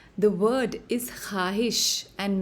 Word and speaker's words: ख्वाहिश: us the sound w, when preceded by a khe and followed by an alif is always silent.